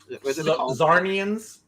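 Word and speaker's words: Czarnians: So we're gonna have our Metropolis basically invaded by an army of all the Lobo, whatever his Caesarians. Zarnians. Zarnians, yeah. The sea is silent, I think.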